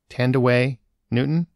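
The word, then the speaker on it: Thandiwe Newton: make sure i i treat it with respect tandaway newton is how it's pronounced now and her character is watts and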